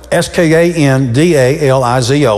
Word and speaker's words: skandalizo: It's spelled S-K-A-N-D-A-L-I-Z-O, skandalizo.